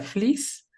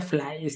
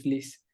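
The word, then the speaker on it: Fliess: cómo se pronuncia y según esto se pronuncia Fliss. Es algo Ujú. que ahí la fuente no sea Tan correcta, confiable. ajá, pero ahí encontré que se pronuncia Fliss, porque yo decía Flies, ¿no? Y de repente ya vi que es Fliss.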